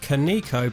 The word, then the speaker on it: Kaneko: time we're looking at kanako developed arcade games pronounced konico by us ignorant westerners and i'm joined by